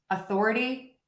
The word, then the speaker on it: authority: Thor is going to be up. Author, author, author. The Thor is the stress syllable, louder, longer, higher. The is unstressed, lower, faster, and shorter.